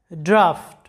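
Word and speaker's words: draught: ইউ জি এইচ টি ড্রাফট লক্ষ্য করো শব্দটা ড্রাফট যেটার বাংলা অর্থটা হচ্ছে খসড়া এখানে জি এইচ এর উচ্চারণ কিন্তু ফ এর মতো হয়েছে।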